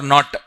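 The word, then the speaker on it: knot: Unit kilometer per hour miles per hour or not? This also was asked once. Not may K silent. K is silent.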